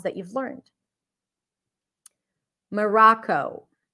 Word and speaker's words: Morocco: sounds that you've learned Morocco Morocco look at my mouth M ra Co this one I'm writing it with a W but you know if we're thinking of IPA this is the IPA for forgive my handwriting I don't know how to write with this pen okay this is awah Morocco Moro good practice it with